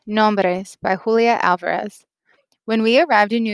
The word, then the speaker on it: Alvarez: my name to myself, opening my mouth wide for the organ blast of the A, trilling my tongue for the drumroll of the R. Alvarez.